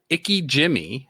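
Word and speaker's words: ikejime: a key is a word and then it's pronounced icky Jimmy it says Vicki Jimmy is a method of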